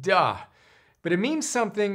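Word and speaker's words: 德: worst pronunciation ever duh so de is pronounced duh but it means something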